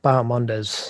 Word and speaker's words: Bahamondes: Bahamondes or something? Bahamondes.